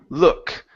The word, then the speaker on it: look: one is the word look instead of saying O L with an o sound it's uh look look look at nety look look